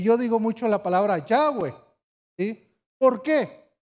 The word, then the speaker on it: Yahweh: Que yo digo mucho la palabra Yahweh. ¿Sí? ¿Por qué? Porque Jehová viene de una muy mala pronunciación.